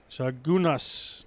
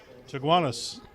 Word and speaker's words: Chaguanas: It bounces, but stays alive for Edund George from Chagunas, Trinidad and Tobago, which I've probably mispronounced. Chiguanas. Chaguanas.